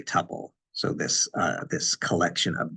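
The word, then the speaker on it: tuple: Another name for a record you'll see is uh and I see this word pronounced sometimes temple and sometimes tubal. I'll tend to say tubal.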